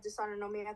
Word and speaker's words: dysautonomia: This this dysautonomia? Dis Dysautonomia. Yeah. Okay, I was close. We'll get to it. Yeah. Yeah, so I was diagnosed with dysautonomia. I have a form of dysautonomia called POTS, postural orthostatic tachycardia syndrome, Mhm.